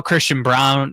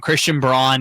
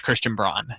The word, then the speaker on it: Christian Braun: No, it's it's weird because now Christian Brown I don't know why I call him Brown. Christian Brawn is cuz that's how he said to pronounce his name.